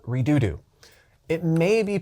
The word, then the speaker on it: Redodo: Today I'm going to introduce you to a company that makes batteries called Redodo. It may be pronounced Redodo, but saying Redodo is way more fun.